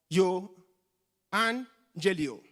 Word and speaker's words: euangelio: It spells e u a n g e l i o. It is pronounced as euangelio.